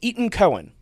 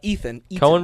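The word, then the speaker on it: Etan Cohen: director of this is Eaton Cohen that's how it's pronounced not Ethan Cohen Brothers no not one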